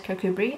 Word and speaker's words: Kirkcudbright: And then from there we went to Kirkcudbright, which is spelled Kirkcudbright but says Kirkcudbright apparently.